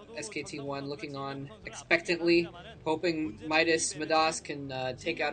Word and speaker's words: Midas: commentator watching claz art he calls him madas because of his accent there so I might call him madas too uh but I guess in America probably pronounce his name Midas um anyway yeah the